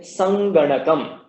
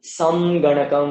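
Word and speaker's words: saṅgaṇakam: is here is Nga, and therefore that Anuswara is also pronounced as Nga. So you'll get Sanganakam, Sanganakam, as opposed to, say, for example, Samganakam or Sarnaganakam or something. It's not like that. It is Sanganakam.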